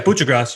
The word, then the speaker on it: Kucherov: Yeah, Kucherov, you drilled it.